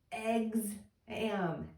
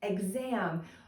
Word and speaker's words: exam: do the word exam I hear egam exam but I know we're not going to spell it like eggs we're going to spell it ex so I hope this